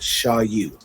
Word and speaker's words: SHAU: That's pronounced SHAU, SHAU, which you can find me on Facebook underneath SHAU, Instagram underneath SHAU Original, TikTok underneath SHAU Original.